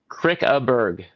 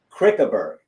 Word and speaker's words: Krickeberg: your last name again Crick aerg Crick aerg right so you you pronounce all the letters you don't add an L or n or e r or anything and and that's it